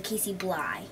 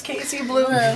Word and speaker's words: Kayciblu: Casey blue so it's when people try to pronounce it it comes out to Casey blly oh no and then you're like no it's Casey blue you can call me